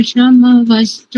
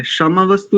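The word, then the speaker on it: शंवस्तु: मितयो भवन्तु शन्नः प्रसवः शमवस्तु वेदिः। अच्छा प्रयास, बहुत अच्छा। संहिता की दृष्टि से भी क्षमा नहीं बोलेंगे, क्षमा वस्तु नहीं बोलेंगे, शम वस्तु, क्योंकि मकार आधा है।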